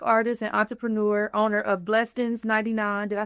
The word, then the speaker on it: Blessends99: and entrepreneur, owner of Blessends99. Did I say it right? Yeah, blessings. Blessends99. But you got to see how it's like Bless Ends 99. Like blessed ends, like money, Well, right?